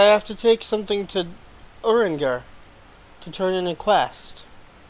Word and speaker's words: Urianger: Abby said it's actually pronounced in a French way XD.